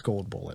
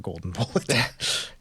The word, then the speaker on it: Gold Bullet: to point out that I mispronounced his name it's gold bullet not golden bullet gold bullet yes gold bullet I realized